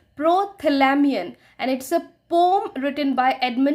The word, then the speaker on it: Prothalamion: इसका उच्चारण है प्रोथैलामियन और यह एडमंड है।